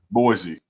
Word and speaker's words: Boise: what is that boy Boise you can say Yeah Boy Idaho that's supposed to be Boise Idaho yeah that's how you